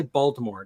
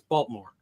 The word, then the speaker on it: Baltimore: You don't say Baltimore; it's Baltimore.